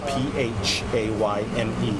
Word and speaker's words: Phayme: His name Kevin, last name is spelled P-H-A-Y-M-E, pronounced Phayme.